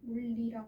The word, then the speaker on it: 물이랑: 자, 그러면 얘 같은 경우에는 명사 물에 실질 형태소 이랑이 결합한 것이라고 보면 이라는 거죠. 자, 그러면 물이랑에다가 니은이 첨가됐다. 물리랑이 되죠. 여기서 끝나는 게 아니라 어떻게 돼야 돼? 물리랑. 그렇죠. 물리랑이 돼버려야죠. 리을을 만났으니까 유음화가 돼야 된단 말이야.